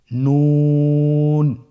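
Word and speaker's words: نون: নুন হরফটি উচ্চারণের ক্ষেত্রে অবশ্যই পাতলা করে উচ্চারণ করতে হবে এবং 3 আলিফ টেনে পড়তে হবে।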